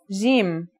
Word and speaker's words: Jim: Our first letter is Jim. This one is easy to pronounce. It's somewhere between a G and a J, depending on the accent.